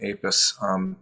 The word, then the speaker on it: Apess: And you'll notice that while my introducers say Apess and I'm saying Apess, the pronunciation of the name is there are various different pronunciations. I go with Apess for various different reasons, but I just thought